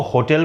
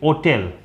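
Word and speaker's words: hotel: जैसे बहुत पुराने समय में ब्रिटेन में कुछ लोग इसको होटल बोलते थे, लेकिन कुछ लोग इसको प्रोनाउंस करते थे ओटेल, ओ टेल, ओटेल।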